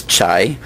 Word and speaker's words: CHAI: Judy is a principal of what she pronounces as CHAI, the Computer Human Adaptive Interaction Group, which does basic and applied research in personalization and in ubiquitous computing applications.